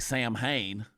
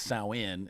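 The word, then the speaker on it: Samhain: It it's it looks like Sam Hayne Sam but it's not. It's sin. That's how you pronounce that.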